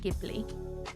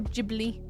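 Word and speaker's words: Ghibli: I like I like a bit of gibli or jibli. Jibli. Gibli. Multiple ways to pronounce it. I'm think it's jibli, right?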